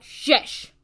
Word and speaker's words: SCIS: My name is SCIS. It has to be capitalized, and it's pronounced like shish.